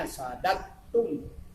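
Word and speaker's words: صددتم: Jadi sadadatun itu tulisannya dadatun, sadadatun, bacanya sadatun.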